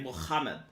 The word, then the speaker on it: Muhammad: it say like that muhammad it's that i had like friends at the university of madison that's how they pronounced it's it's like from the third larynx it's like muhammad seven years old did